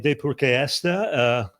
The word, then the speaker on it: Deypurkaystha: And today I'm absolutely delighted to have as my guest Mitali Deypurkaystha. You got to give me credit for getting that last name pronounced right.